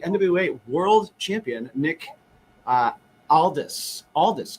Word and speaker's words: Aldis: Aldis, correct? Did I say it correctly? Right. Yeah. If you're having trouble remembering it, just remember when you get Nick, you get all this.